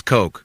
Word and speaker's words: Koch: your correct pronunciation is coke it is coke but it's spelled koch if you need to